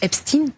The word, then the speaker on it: Epstein: nous qu'on à LCI, on prononce Epstine tout simplement parce que c'est comme ça que lui-même prononçait son nom.